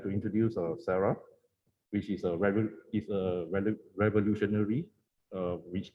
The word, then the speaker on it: CERARL: A lot of people mispronounce as cereal, but it's not cereal, no, it's not edible cereal, but it's CERARL. CERARL.